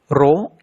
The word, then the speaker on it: rho: Rho is a Greek letter. It is not P but pronounced as rho, R-H-O, where H is height, rho is density, G is acceleration due to gravity.